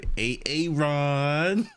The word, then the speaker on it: Aaron: So, why didn't you say it the first time I said, "A-A-Ron"? Because it's PRONOUNCED AARON.